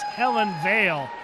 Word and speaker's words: Hellen Vale: Little correction, I'm sorry, I mispronounced her name. It's Hellen Vale.